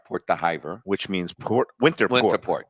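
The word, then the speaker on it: Port d'Hiver: kind how you describe it okay so it's pronounced Port d spell but if anybody wants to Google it spelled d h i v r Port theer which means Port winter Port winter Port correct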